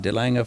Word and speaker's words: Delange: your name didn't I that sounded exactly how it should be the Lang is perfect oh okay okay okay